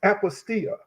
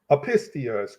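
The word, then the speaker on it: ἀπιστία: The word unbelief in this particular text is apostia. Apostia. That's the Greek word. Apistia, Apistia, I'm sorry. Apistia is how it's pronounced in the Greek, or apostia is how it's pronounced.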